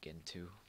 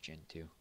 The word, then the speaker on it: Gentoo: a command line then there's uh there's um gentoo uh usually i pronounce it like gentoo but i know it's pronounced gen 2 gen 2 the website itself might not look